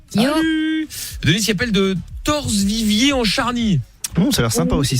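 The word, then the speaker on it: Torcé-Viviers-en-Charnie: Denise qui appelle de Torse-Vivier en Charny. Ça a l'air sympa aussi ça. C'est ça, j'ai bien prononcé?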